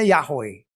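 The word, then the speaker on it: Yahweh: tulisannya tahannya itu enggak ada kata bantu ya huruf mati semua lah mereka pasti tahu baca Yehwehah itu bacanya yahwe enggak mungkin yang lain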